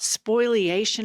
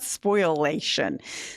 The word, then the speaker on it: spoliation: and you're raving about spoliation. Is that a legal term? It's not spoilation. Spoilation. Okay. So he pronounces it wrong.